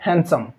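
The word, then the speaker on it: handsome: इसमें डी जो है ये भी साइलेंट रहता है। इसको बोला जाता है हैंडसम। हैंडसम नहीं, हैंडसम।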